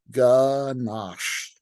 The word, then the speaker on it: ganache: Just say the word, Ganache. It's mandatory to stretch out the SH sound at the end of the word. The phonetic pronunciation of Ganache sounds like Niagara Falls.